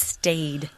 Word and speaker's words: stade: Well, yeah, in English today it's pronounced stade. I don't know how they pronounced it way back when, but today it is pronounced stade.